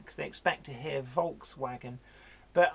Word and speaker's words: Volkswagen: photo look as a fox wagon and passer and most people don't hear that because they expect to hear Volkswagen but I pronounce it as per the German way because that is just